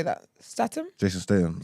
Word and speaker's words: Statham: Statham. Jason Statham. Statham.